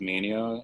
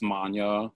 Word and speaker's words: Mania: so i i mean it's always been commonly mispronounced as mania it's manya for like those who